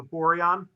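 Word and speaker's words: Boiron: main contact from byron i'm sure i'm not pronouncing that right b o i r o n o borion yeah there you go and i had a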